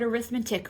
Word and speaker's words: arithmetic: So we have the word arithmetic when we use it as a noun, okay? When we use it as an adjective, we change where the emphasis goes on your vowels.